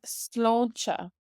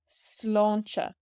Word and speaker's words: sláinte: Cheers when you're having a drink with somebody is sláinte. Sláinte. So we have the Irish in green here, and we have a pronunciation guide in yellow here.